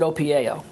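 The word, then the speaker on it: OPIAO: you practice that well opi i pronounce it opio i even have a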